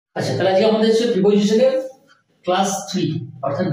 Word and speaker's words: preposition: আচ্ছা তাহলে আজকে আমাদের প্রিপজিশনের ক্লাস থ্রি অর্থাৎ ডে থ্রি হ্যাঁ আমরা এর